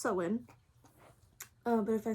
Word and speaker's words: Samhain: years that i was pagan so i say sam payne because i was ignorant for the first like